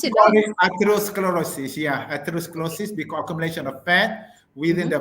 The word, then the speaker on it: atherosclerosis: so this is called Asos how do you pronounce itos sclerosis yeah atherosclerosis accumulation of fat within the blood vessel so